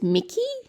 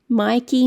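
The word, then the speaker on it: Myki: in Melbourne it's called I think it's pronounced Mickey Mikey Mickey Sydney is opal Adelaide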